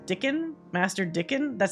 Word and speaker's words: Dickon: are they it's been they pronounce it like Dickens without the s dickin master dickin that sounds